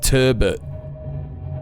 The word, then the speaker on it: turbot: Are you aware of how Americans pronounce turbot? Well, not like that, I'm assuming. Turbo. Turbot with a silent T.